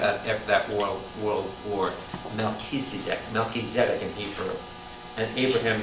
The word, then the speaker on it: Melchizedek: melchizedek by the way the correct hebrew pronunciation is melchizedek and we say malchez that's sorry i'll let